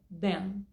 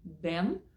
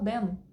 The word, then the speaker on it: than: Você pode pronunciar como eu acabei de pronunciar, com a língua aqui, than, Ou, Jenny, não consigo? Sem problema, fala then. Imagina que é o nosso D, a letra D, tá? Then, D-E-N, ok?